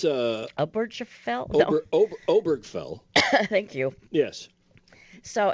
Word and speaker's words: Obergefell: The violation of their right to marry, and that the Supreme Court established in the previous case of Aberfeld. How do you say that word? Oh, it's Obergefell?